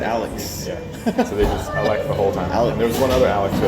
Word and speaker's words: Alex: My name the entire time was Alec. Because I refused to pronounce the X. Oh, yeah, because you have an XS sound to it, Alex.